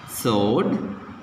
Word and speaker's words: sword: Okay, how to pronounce this? Whole, right, sword, two, who, wrist.